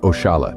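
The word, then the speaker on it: oxalá: My favorite, oxala, pronounced oshala, derived from inshallah.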